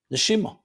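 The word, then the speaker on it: נשימה: Neshima. It's connected. Neshama, soul. Neshima, same letters but pronounced differently, is breath. That in every breath a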